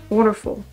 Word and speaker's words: wonderful: your last video wonderful just enunciate the three syllables wonderful it's it's wonderful wonderful